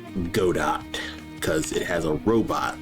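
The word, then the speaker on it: Godot: game engine is called Go Dot cuz it has a robot logo. So, apparently it's supposed to rhyme with robot.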